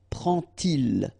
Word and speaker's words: prend-il: And so this little d here is in red just to show you that you won't pronounce it like d to make the liaison, but you will pronounce it like t. And so you will get prend-il, okay?